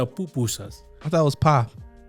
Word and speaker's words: pupusa: How do you pronounce? Pupusa. That's how I say it. I thought it was papusa. Oh no, yeah. Pupusa.